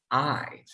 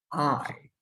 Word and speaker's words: I: Tenemos I, ¿cómo se pronuncia? Como cuando algo te duele. Así. I, I.